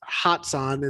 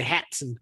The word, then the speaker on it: Hatsan: It's sort of like people when they try and pronounce Hatsan and they say Hatson.